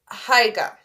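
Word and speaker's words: Haigha: happy his name is taiga he pronounced it so as to rhyme with Mayor I love my love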